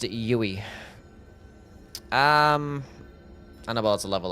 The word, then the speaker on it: Youwy: My name is pronounced Yui.